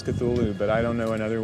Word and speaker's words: Cthulhu: And so finally, in a letter of 1934, he tells a colleague, well, it's really meant to be 2 syllables.